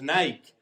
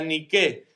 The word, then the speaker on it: Nike: hablábamos al principio es lo que en España llamamos Nike Aunque en original era ni que ni siquiera los creadores lo pronuncian bien pero no importa dos